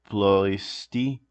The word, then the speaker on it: Ploiești: Born in 1923 in Plus, wait, how do you pronounce it? That city? Uh, Ploiești, Romania.